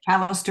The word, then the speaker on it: Callister: things that she'll share with you today, Maureen Callister. I hope I pronounced your last name properly there, Maureen. Sounds good? Yes. Yep, that's Ex good. Callister.